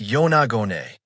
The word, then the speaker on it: Yonaguni: Pronounced Yonagone, this site has sparked debate for decades.